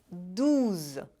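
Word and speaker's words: douze: para o número 12 que em francês é duza de novo é bem parecido mas a diferença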